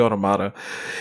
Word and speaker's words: Automata: I completed Nier Automata, or Automata, or however you want to pronounce it. It's actually Automata.